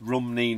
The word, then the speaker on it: Rumney: Leslie Gilpin, it's Rumney, not Rimney.